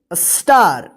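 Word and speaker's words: star: फॉर एस टी ए आर इसको क्या पढ़ेंगे स्टार एच ए आर डी इसको क्या पढ़ेंगे हार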